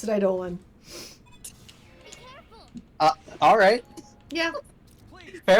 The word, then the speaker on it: Eidolon: Here it's representing Rubrum, which is the kingdom you're from, and Rubrum has the summoned enemies, or the summoned Eidolons.